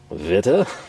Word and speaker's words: Witte: Uh is it uh Vita? And it is. Again, I think that translates over as white uh in English. I like to say witty personally. I know that's 100% incorrect.